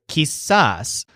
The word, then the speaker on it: quizás: Joel uses the word kiss-ass to mean maybe or perhaps Jesus is halfway between yes and no and the stressed syllable sounds kind of like saws in fact sometimes Joel